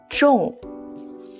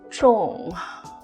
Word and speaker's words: 众: This 叠字 of 人, this one, is pronounced as 众. 众. 众 means crowd. Or lots of people, which is pretty self-explanatory, isn't it? 众, three 人 means a lot of people.